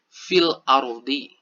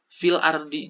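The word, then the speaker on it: في الأرض: kan fil ardhi nah dibaca oleh teman-teman ini secara sama ataupun jelas seperti itu ya filardi juga seperti itu jadi ketika di kalimatnya file aerobik maka teman-teman pun membacanya fill our wedding tidak ada yang perlu dirubah ataupun tidak ada yang perlu dihilangkan seperti itu dibaca sama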